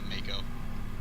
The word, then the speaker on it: Mako: would you say that what did it pronounce marco instead of mako don't mind hey yeah